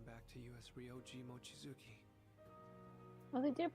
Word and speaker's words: Mochizuki: But the emphasis is all in the wrong place, where it should be Mochizuki. Because in Japanese, generally, with names, it's like the first syllable and the third syllable. It's like the odd number syllables are the one with emphasis.